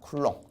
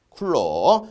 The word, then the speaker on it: 쿨롱: 단위는 앞으로 어떻게 읽습니까 얘는 쿨롱이라고 읽을 겁니다 쿨롱 쿨롱 그래서 보통이 전화할 양